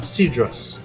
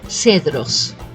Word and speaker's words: Cedros: the West they have sidras I uh-huh right so in Spanish we will pronounce it as Cedros s right so you'll tend